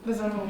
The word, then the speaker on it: Besalú: I don't know if I pronounce this correctly, but Besalú? Besalú, Yes.